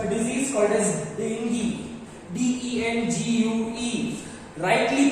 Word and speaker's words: dengue: So dengue, DENGUE is dengue, U is silent there, ठीक है।